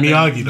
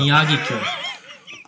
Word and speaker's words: Miyagikyo: The Miyagikyo, your favorite mispronunciation of mine. Yeah, how do you say it? Miyagi-do. Miyagikyo. Miyagi. It's like Mr. Miyagi.